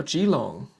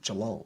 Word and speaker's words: Geelong: okay so this is now g long or geelong sorry it's not too long that's too long i pronounce some of